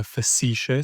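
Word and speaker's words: facetiae: How do you spell that first word? You ficisha. Uh facicia.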